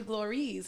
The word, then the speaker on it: Glorelys: time it was like dan calls you glories and i'm like oh okay that's how you say it in what are your